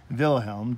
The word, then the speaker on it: Wilhelm: Alma sobs pronounced but Kaiser kais er Vilhelm w IL h g LM bill helm and he in particular